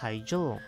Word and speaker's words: Hyjal: Mount Hyjal a ano, Hyjal je správná výslovnost, která by se měla používat, ale vzhledem k různým jazykům, k různým nářečím a podobné, někteří lidé to vyslovují jako Hyjal, někteří to vyslovují jako Hyjal a protože nikdy nebylo upřesněno, jak se má tahle lokace vyslovovat, tak to můžete vyslovovat více názvy. Tím správným by avšak měl být Hyjal.